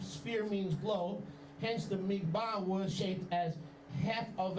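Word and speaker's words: מגבעה: The Hebrew word here, listen, for turban, if you're taking notes, is Hebrew Strong's 4021, mig-ba. Take notes? Mig-ba. 2 syllables.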